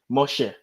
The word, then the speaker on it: Moshe: there is important because how do you say moses in hebrew guess i don't know moshe okay but you just said that it's mushy oh my gosh i'm